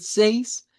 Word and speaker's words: seis: El seis pues hace rima con el tres porque hacen sonido e bien.